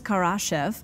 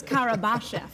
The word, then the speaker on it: Karabashev: I think I mispronounced that, even though I was trying. Boris Karabashev. Yes.